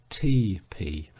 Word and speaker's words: tepee: and that is the Indian lodge or tepee pronounced TP and even it is